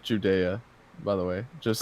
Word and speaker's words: Judea: This was the second sign Jesus performed after coming from Judah to Galilee. Yeah. And this is pronounced Judea, by the way. Just like Judea. Yeah, Judea.